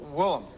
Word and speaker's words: Willem: So your real name is? William. William, but you're called Willem. Willem.